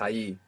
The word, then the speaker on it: allí: There's a tiny, even imperceivable difference between ahí, A-H-I, and ahí, A-L-L-I. How would you say don't stay there informally? No te quedes allí. Good. No te quedes allí.